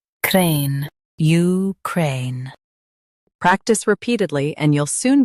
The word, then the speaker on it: Ukraine: Crane, Ukraine. Stress cray and end with a clear N. Crane, Ukraine.